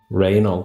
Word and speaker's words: Raynal: How do you say his name? Raynal. Raynal. Like anal. Renal. Raynal.